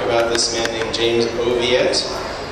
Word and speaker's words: Oviatt: this man named james oviatt uh not oviatt which sounds a little more sophisticated but oviatt that's how it's pronounced where he comes from